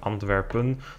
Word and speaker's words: Antwerpen: also influenced his race I've noticed I've been switching between ANP the English pronunciation and anpin the Dutch one but they both obviously mean the same outside of the top